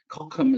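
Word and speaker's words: Cochem: the town of kokum kokum is how they say it with that little guttural sound uh and this is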